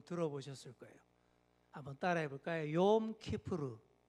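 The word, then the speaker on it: Yom Kippur: 욤 키푸르. 예, 좀 낯선 발음이죠.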